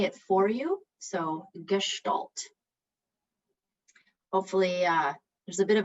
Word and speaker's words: gestalt: i'm just gonna say it for you so gestalt hopefully uh there's a bit of a in